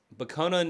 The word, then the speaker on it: Bokonon: bonan bonan oh I'm bonan is the Kurt vona pronunciation I totally forgot about